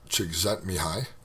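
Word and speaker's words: Csikszentmihalyi: by uh Mii uh Chet mihi that's how you actually say that name in case you're wondering how do you pronounce that it's a Hungarian name and uh I speak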